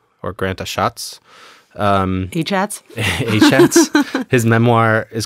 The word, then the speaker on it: Achatz: And I had to think of Grant, I think it's pronounced Grant Achatz or Grant Achatz.